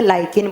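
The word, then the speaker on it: lichen: और थैलोफाइटा में एक प्लांट पढ़ेंगे आप लीचेन जिसको इंग्लिश में लीचेन प्रोनाउंस किया जाता है और हिंदी में लाइकेन बोला जाता है।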